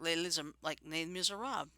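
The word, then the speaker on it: Les Misérables: Like Les Miserables.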